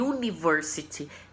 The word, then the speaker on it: university: O U, uniforme, university, tem o som da letra Y, né?